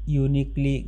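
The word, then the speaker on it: uniquely: Fill in দ্য গ্যাপ হি was dash ইউনিকলি gifted teacher. এখানে ইউ যদি ইউ এর মতো উচ্চারণ হয় তাহলে অ্যান না বসে এ বসে, সেই সূত্র অনুযায়ী এ উত্তর হবে।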